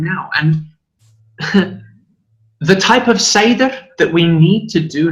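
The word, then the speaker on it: Seiðr: As you know, Seidr, or as some people may pronounce it, Seid, is very misunderstood, particularly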